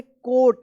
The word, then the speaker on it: coat: तो यहां पे देखिए OA एक साथ रहेगा तो इसका क्या उच्चारण होगा? हाँ, इसको पढ़ेंगे कोट, यानी ओ उच्चारण होगा इसका, कोट।